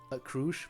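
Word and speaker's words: Crusch: Crush, sorry. That's how they pronounce it.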